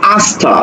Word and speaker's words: আস্থা: আছে ঋকার তাহলে এই জায়গাতে তখন তালব্যসটা দন্তস উচ্চারণ হবে শ্রী গ আকার লগাল দেখো আস্থা দন্তস এর সাথে কি যুক্ত আছে থ যুক্ত